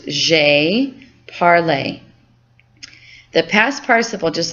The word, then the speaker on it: j'ai parlé: So this is pronounced j'ai parlé.